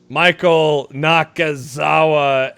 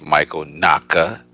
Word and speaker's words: Michael Nakazawa: Michael Nakazawa answers. You said it wrong. Okay, help me out. Nobody cares about this jobber. No, I'm going to say it. It's Michael Nakazawa.